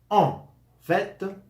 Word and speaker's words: en fait: sentait eux son en le son en fait en fet normalmente esa esa tuncia pero